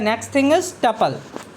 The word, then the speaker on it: tuple: तो टपल्स, तो यू can think of टपल pronounced as टपल, टपल TUPPLE। RAM with कपल, जैसे कपल पढ़ते हैं वैसे हम पढ़ते हैं इसको टपल्स।